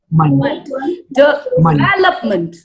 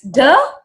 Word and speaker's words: development: Okay, so here's how you're going to pronounce it. It's where stressed, okay? Development.